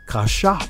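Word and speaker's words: כשף: priest a witch doctor in hebrew is pronounced kashap which is a priest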